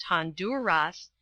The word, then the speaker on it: Honduras: about his life in Honduras it is pronounced Honduras and for another 20